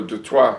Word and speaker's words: Detroit: French Canadians from Detroit, or Detroit, as it's properly pronounced.